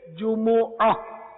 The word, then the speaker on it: جمعہ: اس کا جمعرات۔ تو عربی تلفظ، قرآنی تلفظ اس کا یہی ہے جمعہ۔ البتہ اردو میں میم ساکن ہو جاتا ہے، جمعہ بولتے ہیں۔ اگر اللہ تعالیٰ کے